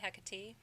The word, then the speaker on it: Hecate: is ruled by who Hecate Hecate huh catty not he cat he Kate you